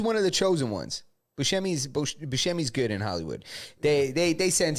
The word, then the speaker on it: Buscemi: How's his last name pronounced? Steve Buscemi. Buscemi got punched in the eye, ended up going to the hospital.